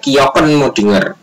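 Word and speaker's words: kjökkenmöddinger: mesolithikum adalah kebudayaan kjokkenmoddinger ini ya tulisannya kejo kejo pun modinger Tapi bacanya adalah kjokkenmoddinger dan Abris Sous Roche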